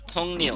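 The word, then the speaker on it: 동료: সহকর্মী সহ কর্মী ধং নিয়ো এই থুং নিয়ো উচ্চারণ হবে থুং নিউ থুং নিয়ো থুং থুং নিউ থুং আর হচ্ছে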